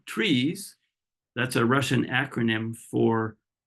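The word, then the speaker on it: TRIZ: research Innovation technique called trees that's a Russian acronym for the theory of systematic problem solving I know it looks like Tris but it's pronounced trees and it's a technique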